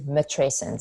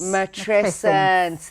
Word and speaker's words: matrescence: Please help me pronounce it. Teach us all. Okay. So the word is called is matrescence. Matrescence.